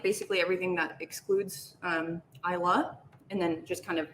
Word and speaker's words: Islay: And it is pronounced Islay if you go to Scotland. If you pronounce it Islay or Isla, I don't think anyone's going to hit you over the head, but you might get corrected.